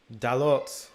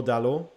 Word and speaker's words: Dalot: Adrian, you don't say the T in... Oh, really? You say like French pronunciation? It's French pronunciation?